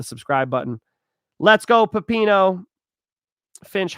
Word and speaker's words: Finch: Um, Mike Finch in the clinch. Yes, that does rhyme with my last name.